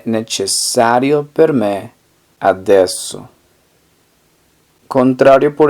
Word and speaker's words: necessario: Necesario, como se escribe con C, sería nece. Y es doble S, entonces sería necesario. Necesario. Entonces, ¿cómo se diría? No es necesario para mí ahora. Non è necessario per me adesso.